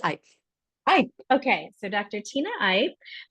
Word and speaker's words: Ipe: your last name wrong Dr Tina I or it's I I okay so Dr Tina